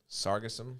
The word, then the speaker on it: Sargassum: And how do you pronounce that? It's Sargassum.